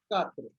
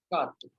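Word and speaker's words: quatre: This Q-A-U-A-T-R-E is spoken as Katre. Pronounced as. So that means four. Okay. Pronounced as Katre.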